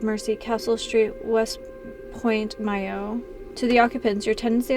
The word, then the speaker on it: Mayo: Sligo the name is from the Irish mahio pronounced Mayo much like the continent is a mountain on